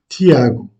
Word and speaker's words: Tiago: Jacques, en portugais, se dit Tiago.